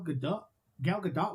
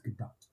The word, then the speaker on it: Gadot: And fucking Gal Gadot was pregnant during the filming of that movie. I thought it was Gal Gadot. No, it's Gadot.